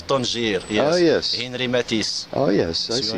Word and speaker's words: Matisse: Henri Matisse.